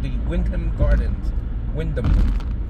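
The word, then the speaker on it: Wyndham: called the Windam Gardens Windam I don't think you pronounced the H right Windam not Windam let us know your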